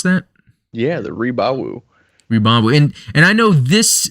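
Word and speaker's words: Rebawoo: Is that how you would pronounce that? Yeah, the Rebawu.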